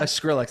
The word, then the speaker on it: Skrillex: kind of leaned towards yeah do you like shrillics i don't know if i'm pronouncing it okay yeah skrillex that's it yeah my son likes the reptile